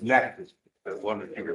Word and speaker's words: Natchitoches: I've been mispronouncing I county. know, it's Natchitoches. The one that you were Natchitoches, Natchitoches.